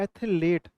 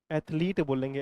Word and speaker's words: athlete: तो ATHELETE, ये पंजाब वाले लोग बोलते हैं एथलेट, क्योंकि वो उसको पकड़ लेते हैं, एथलीट को भी नहीं छोड़ते वो। तो एथलीट की स्पेलिंग तो सही ये वाली है, लेकिन पंजाबी लोगों से पंगा नहीं लेना, क्योंकि वो फिर एथलेट बना देते हैं। तो याद हो जाएगा भाई, ये वाली गलत है और ये वाली सही है। ठीक है, एथलीट बोलेंगे, एथलीट, है ना, याद हो जाएगा भाई सभी।